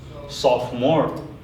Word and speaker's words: sophomore: को कुरा गर्नु फर्स्ट sophomore भनेर छ यहाँ O को pronunciation हुँदैन just sophomore then यसको pronunciation पोषम